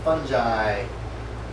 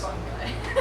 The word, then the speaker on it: fungi: Boards, wet and rotting, assorted slimes and fungi exuding from their surfaces. Fun guy. Fungi, damn it.